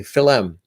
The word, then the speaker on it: film: like to add syllables so instead of film they'll say philem and a couple of